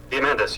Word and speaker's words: Diamandis: Diamandis, yeah. Diamandis.